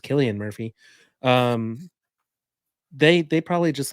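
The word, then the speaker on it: Cillian Murphy: Chris Nolan and now I just realize that celan Murphy's is pronounced Killian Murphy um they they probably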